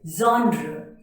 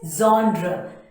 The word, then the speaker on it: genre: of this word is genre yes the correct pronunciation is Zondra the way you can